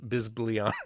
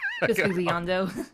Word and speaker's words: Bisbigliando: And there's also, I mean, there's all kinds of different effects, and it's like there's the word I can never pronounce unless I'm looking at it. It was like bisblion. Bisbigliando.